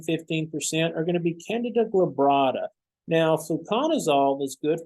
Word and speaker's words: Candida: I know it says candida, but it's pronounced candida. So think of DADA.